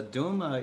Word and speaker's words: duma: sad a lament and it rhymes with muma which uh is aunt